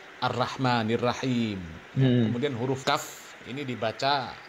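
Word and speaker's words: الرحمن الرحيم: Baca huruf ro di fathah bacanya ra ya. Ar-Rahmanir Rahim.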